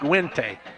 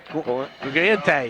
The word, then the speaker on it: Guente: Is how that's pronounced. Guente. Guente is how they told me to pronounce it. Guente. Italian, no doubt.